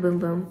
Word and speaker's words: Bum Bum: use um the Brazilian bum bum cream I know it's pronounced boom boom and I've said that